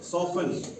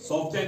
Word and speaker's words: soften: उसके बाद SOFTEN, सॉफन, सॉफ्टन नहीं पढ़ते हैं, सॉफन पढ़ते हैं इसको, ठीक है।